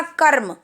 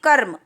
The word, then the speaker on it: कर्म: का उच्चारण कैसे करेंगे, र कैसे, फटाफट से बोल, जैसे हमने बोला कर्म, र हल्की आवाज़ आ रही, कर्म।